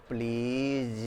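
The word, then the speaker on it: please: अब ध्यान दें कि प्लीज़ बोलते समय हम ऐसा नहीं कहते प्लीज ऐसा नहीं होता। प्लीज़ प्लीज़ प्लीज ज हल्का होता है।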